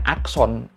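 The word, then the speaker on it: อักษร: Dan karena huruf terakhirnya adalah huruf ini, roroa, yang kalau jadi konsonan penutup dibaca berubah jadi N, bukan R, ini jadi dibacanya son. Jadi keseluruhan kata ini dibacanya akson. R-nya sebenarnya nggak dibaca.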